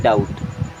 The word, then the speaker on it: doubt: DOUBT, बी यहाँ पे silent होता है एंड इसे पढ़ते हैं डाउट।